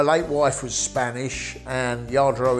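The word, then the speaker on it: Lladró: well i've been collecting yardro my late wife was spanish and yard row is spelt with a double whale but the spanish pronounce it with a y everything's made by hand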